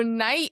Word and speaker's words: knight: So night is originally more of a Germanic word. So they originally would have pronounced it knit, but because of the 100 Years' War and the French coming over, it's a Germanic word that we pronounce with French pronunciation, which is why it's silent.